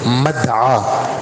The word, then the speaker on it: مدعا: اور لکھا ہے لیکن اس کا صحیح تلفظ یہی ہے مدعا، میم دال عین، عین کے ساتھ یا، عین کے اوپر کھڑا زبر، اس میں ظرف کا